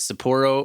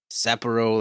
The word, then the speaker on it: Sapporo: Is it Sapporo or Sapporo? Like, I don't know how to say it. Sapporo? Sapporo. Sapporo. It has two O's. It's all O's except for the sa.